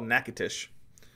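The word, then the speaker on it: Natchitoches: exactly the same in Louisiana and it's called nacatish so just depends on depends on whether you're talking Texas or Louisiana it's either nacadas or nacatish but anyway uh I was expecting this to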